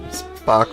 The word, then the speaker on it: Spock: Spock rhymes with The Rock.